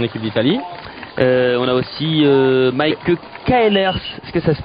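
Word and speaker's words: Maaike Caelers: On a aussi Mike Kaelers, est-ce que ça se prononce comme ça?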